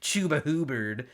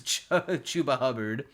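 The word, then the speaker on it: Chuba Hubbard: I was going to say Chuba Hubird. It's Chuba Hubard. It's the It's the different pronunciations of the U. It's like the hard U and the soft U that me up on his name.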